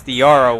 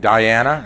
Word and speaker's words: Diara: We've been saying her name wrong this whole time. Diara Walker misses the first free throw. Were we saying Diana? Is that what we're saying? Diara. Oh, it's Diara.